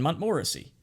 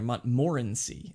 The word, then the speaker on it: Montmorency: George, William Samuel Harris, and myself, and Montmorency.